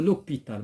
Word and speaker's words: hôpital: دونك هنايا عندنا histoire hôpital كنقولوا لوبيتال ما كنقولوش لو hôpital كنقولوا لوبيتال.